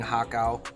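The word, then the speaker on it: har gow: if you're not eating hakao or as they would spell it in the west par GAO yo I'm not gonna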